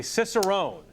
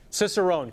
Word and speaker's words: cicerone: we're joined by Ray Daniels who is a cicerone cicerone correct Ry that's the correct correct pronunciation so which which is which is essentially